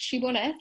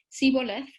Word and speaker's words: shibboleth: crossing the Jordan, they were forced to say the word shibboleth, and some of them pronounced it siboleth, and this is how it creates this distinction.